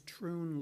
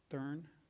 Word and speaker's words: Troon: It's Troon Law, the second last sentence, as opposed to Thurn. Oh, thank you. No problem. And I think I told you, I called them up and they are pronounced Troon, so we can put that to bed.